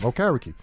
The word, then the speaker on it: Okereke: to the point where I learned how to pronounce his name okay Ricky and I was calling him old carrot cake that's how I remember how to say his name you know but I